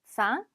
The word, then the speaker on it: faim: 자, 마지막에 m이 있기는 한데 m 발음이 나지는 않습니다. 아, 이 m 합쳐서 그냥 앙 같은 발음이 나죠. 다시 한번 해볼까요? faim.